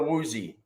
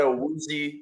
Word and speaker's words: Awuzie: So I'm rolling with Awuzie, even though like the Titans pronunciation guide kind of made it look like Awuzie. He said Awuzie.